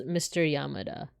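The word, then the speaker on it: 山田: But their pronunciation's pretty easy. So this is Yama. And this is Da. So this is Mr. Yamada.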